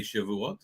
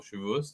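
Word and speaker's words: Shavuot: of a Jewish holiday, Shivat or Shivus, depending how you pronounce it, where uh there are several customs.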